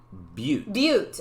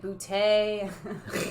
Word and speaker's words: Butte: Yeah, Butte. Which we learned is the correct way to say it. Yeah, but. We thought it was butt, then I thought it was like bootay, and then like, yeah.